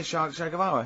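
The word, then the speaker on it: Che Guevara: Shay is like shake and his his surname is like guitar, right?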